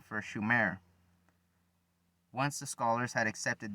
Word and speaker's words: Sumer: Except for mispronouncing the name, it should have been Shumer, not Sumer.